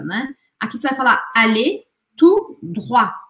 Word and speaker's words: allez tout droit: Aqui você vai falar allez tout droit. E este T, tanto do tout quanto do droit, não é pronunciado.